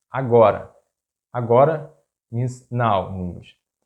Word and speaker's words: agora: How do you pronounce it? Ágora, agóra or agorá? The correct pronunciation is agora.